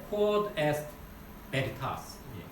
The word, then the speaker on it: Quod est veritas: 라틴어로 이게 발음을 제가 러시아 발음 막 이탈리아 발음 다 들었는데 이게 좀 이상하더라고요. 잘 못 따라서 그래서 Quod est veritas 이렇게 얘기합니다.